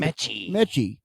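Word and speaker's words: Metchie: But Eagles acquire receiver John M is how you pronounce his name. Miychi. Villa of the Eagles continue bolstering their offense, acquiring wide receiver John Mechy from the Houston Texans in exchange for a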